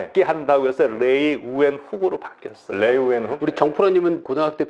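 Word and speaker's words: Leeuwenhoek: 자, 일단 그 네덜란드에 레이 우엔훅. 저희가 익숙하기엔 레베노프.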